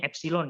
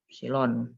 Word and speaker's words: epsilon: Ini bacanya epsilon ya, epsilon.